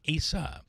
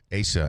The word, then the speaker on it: Asa: Asa Smith in Oneida, pronounced with a long A, Asa. Yes. Dave says the same thing. Hard A, as in able, a long A. So it's a long A. Asa.